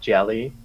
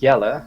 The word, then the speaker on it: Yella: By the way, I would like to remind you that Yella, it's not Jelly or Jella. It's Yella. I hope you can pronounce it properly. Yella? It's a Dutch name.